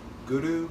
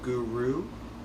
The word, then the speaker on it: guru: taking your tongue and hitting striking the roof of your mouth behind your behind your front teeth and rolling the r a bit so it sounds like this guru guru instead of guru guru which most people